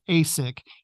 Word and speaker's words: AHSC: nicknames for them so ahsc is pronounced Asic in Sacramento go figure but it's